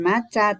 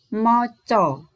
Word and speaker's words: maca: tulisan diatas itu ya ada tulisan maca buku membacanya bukan maca tapi moco ya berarti kan nanti kalau